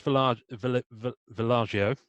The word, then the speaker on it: Vallejo: with them on Facebook, Joe Jusko, right, Boris Villaggio, and I should know how to pronounce that properly, Julie Bell. I think it's Vallejo. It is because Vallejo.